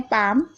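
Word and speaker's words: palm: जैसे कि देख रहे हैं पाम, यहाँ पर देखिए एल पहले आ रहा है उसके बाद एम आ रहा है, तो यहाँ पर साइलेंट है एल।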